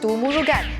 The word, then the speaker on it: Murugan: Murugan The pronunciation is Murugan but according to my Indian neighbour in Kwai Chai Hong He said it’s supposed to pronounce as Murugun We’ll pronounce as Murugun throughout the videos Thaipusam is celebrated in January or February.